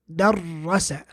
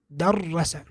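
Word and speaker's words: دَرَّسَ: Okay, so darrasa, darrasa. That's all there is to shadda, which is that shadda, which looks like this, basically means is a sign that indicates the presence of a double consonant.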